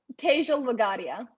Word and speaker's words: Tejal Wagadia: It's Tejal Wagadia.